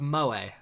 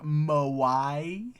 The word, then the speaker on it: moe: No, it's spelled M-O-E. Okay. So mo, but moe. Mo. Hey! Yeah, it's like if the fancy was to talk to, Mo from the Three Stooges.